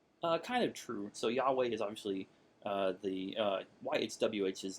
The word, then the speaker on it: Yahweh: And like I said, we don't know precisely the pronunciation, but we're fairly certain that Yahweh is correct.